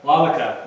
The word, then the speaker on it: Waubeka: Waubeka? Waubeka, yes.